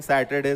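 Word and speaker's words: Saturday: सैटरडे क्या होता है, ये सैटरडे, आर इसमें एक्चुअली साइलेंट होता है ना। तो ये सैटरडे होता है, नॉट सैटरडे, ठीक है।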